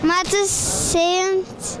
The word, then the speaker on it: Mats Seuntjens: Mads Sønjens. Mads Sønjens. Ya bir Fransız ya da işte Fransızca ile ilişki olan bir kişi gibi okuyamam ama genellikle şu S seslerini telaffuz etmiyorlar. Bu sözcüklerin en sondaki.